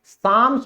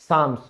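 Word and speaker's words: psalms: क्या बोला जाता है, साम्स बोला जाता है, क्योंकि पी तो हमारा साइलेंट है, इन्हें कहा जाएगा साम्स।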